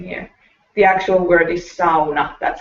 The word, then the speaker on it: sauna: to say something here the actual word is sauna that's how it's pronounced word if i hear anybody here so